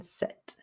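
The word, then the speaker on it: sept: seven dogs we don't pronounce the p in set wheat is pronounced just like the wheat that we grow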